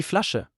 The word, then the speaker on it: Flasche: The combination of the letters sch results in a one new sound like in the English word wish. Die Flasche, The double letters in